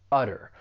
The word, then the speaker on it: utter: For pronunciation the verb has two syllables. The stress is on that first syllable udder. But what I'd really like to point out is that T, I am going to pronounce it as a flap T. It's going to sound like a soft D. And this is pretty common with the American accent when the T comes between two vowel sounds.